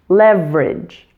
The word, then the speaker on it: leverage: The middle syllable in leverage is so reduced that it seems to disappear, which just leaves you with the ending ridge. Leverage. Leverage. Primary stress is on that first syllable and weak stress is on the last. So soften that final vowel sound to just leverage.